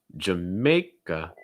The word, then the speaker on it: Jamaica: ireland next one jamaica jamae a sound again like and take over mouth wide raise the front of your tongue jammeh first syllable is reduced ja may and then you get another uh sound again jamaica jamaica jamaica